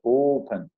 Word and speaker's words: open: Mas o verbo open, como a pronúncia já fala, é open. A sílaba tônica está no O e não no pen.